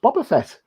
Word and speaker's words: Boba Fett: what that's my question is it bull bar or bobber it's always been bubble set it's boba fett baba bob because so